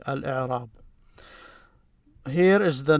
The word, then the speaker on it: الإعراب: So you don't say al-a or al-i, al-u, you say al-i. So he's telling you how it's pronounced correctly. Al-i'rab.